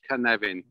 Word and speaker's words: Cynefin: or professor right um no problem and it's pronounced connecting right so it's welsh can nevin and it's fairly easy when you realize welsh